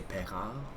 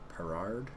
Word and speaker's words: Perard: want to pronounce it in French you'd say peral without pronouncing the D really but in English you would say perard all right so this